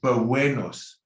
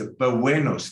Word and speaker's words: buenos: I wrote a W above UE. So it sounds like buenos, like Wednesday, that sound when you say the day of the week, Wednesday. It's buenos dias.